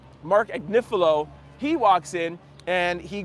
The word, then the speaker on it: Agnifilo: Mark Agofino, sorry, I always pronounce his name wrong. Mark Agnifilo, he walks in and he grabs the mic